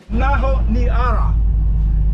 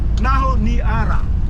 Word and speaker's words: Honiara: Honiara.